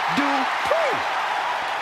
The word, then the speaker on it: Dupri: Michael, it's pronounced Dupri.